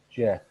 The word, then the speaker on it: Geoff: Geoff, am I saying correctly, or should I correct my saying? No, in English it's pronounced Jeff. Jeff, okay. Yeah. So the French pronounce it Joff.